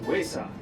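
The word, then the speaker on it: ᏪᏌ: Our Cherokee word of the day today is cat, which is pronounced wayside.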